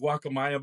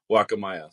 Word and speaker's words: Guacamaya: It is good, and I'll call it Guacamaya by slips, but yeah, the proper pronunciation is Guacamaya.